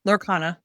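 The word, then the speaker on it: Lorcana: I know a lot of people are into those Lurana Lurana, I think I'm pronouncing it right. Right. Yep. Lurana.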